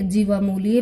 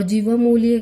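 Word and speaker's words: जिह्वामूलीय: और जीवामूल्य का जो उच्चारण स्थान है वो है कंठ के नीचे, यानी कंठ के नीचे, यानी कि जीभ की जड़ से, जीभ की जड़ से बोला जाता है जीवामूल्य।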